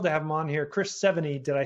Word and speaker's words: Chris Sevigny: I got some coaching beforehand, so and I was told it's like the number and the letter 70, and I was okay, perfect.